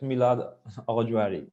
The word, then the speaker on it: Milad Aghajohari: The last talk of our session is the third place of the competition, Milad Aghajohari, and I'm sorry for definitely also pronouncing your name wrong. Yeah, it's Milad Aghajohari.